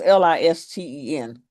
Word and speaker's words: listen: Pronounce L I S T E N. L I S t listen. Listen. We We don't We don't We don't pronounce the T.